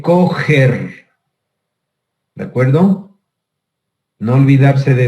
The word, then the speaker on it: Kocher: Se conoce con el nombre de Kocher. Se escribe, pero se dice coger.